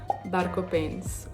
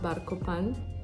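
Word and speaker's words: Bar Copains: And then the last one on this list is Barco Printz, which again, I don't know if I'm pronouncing it right. One of my French friends said it's pronounced Barco Pan.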